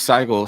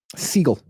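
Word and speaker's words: Sigle: I mean, rookie Marqueis Saigel. Seagull. Is it Seagull or Saigel? Seagull. Okay. So, I should probably pronounce it Saigel since I pronounce everything incorrectly.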